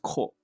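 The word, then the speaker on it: こ: You could say it's like Coco, as in the COCOA, which is the the chocolate before it becomes chocolate. It's pronounced ko.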